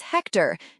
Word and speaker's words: Hector: Question 1 answer is Hector. Note the H is silent.